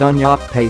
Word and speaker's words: nyaope: Addicts are taking nyaope, pronounced un-yop-pay, a cocktail of heroin, antiretroviral